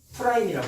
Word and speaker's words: 프라임: 자, 이거 읽을 때 뭐라고 읽냐면 프라임이라고 읽어요.